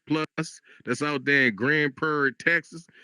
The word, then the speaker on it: Grand Prairie: Grand Prair, you got to say it like that. You got to say Grand Prairie. See, that's how they know if you're a local. If you if you just say Grand Prairie like a regular person, they be like,